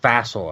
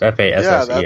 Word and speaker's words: Fassel: It's Fassel, I think, is how you say his last name. It's Fassel.